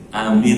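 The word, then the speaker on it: آمين: Amin al-baitul haram. Bisa tahu kan? Tiga kali benar. Ghairil maghdubi alaihim waladdallin. Amin. Alifnya panjang, ada matnya. Mimnya panjang, ada ya-nya mati.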